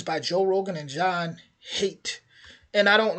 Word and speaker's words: Haidt: Joel Rogan and John hate and I don't like I said I keep thinking that D is silent so hopefully I'm correct other than that it' be pronounced like ha yeah that D's got